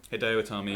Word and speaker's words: Hideo Itami: Yeah, the order of elimination was Axel, Rose, Fandango, Alex Riley, Zack Ryder, Bo Dallas, Hideo Itami, did I say it right? Hideo Itami, yeah.